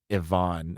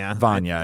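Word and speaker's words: Vanya: the difference between I keep calling him uh Ivonne and it what well I think he he has I think it's spelled like Ivan but he goes by Van Vana yeah yeah yeah uh but Vana and Annie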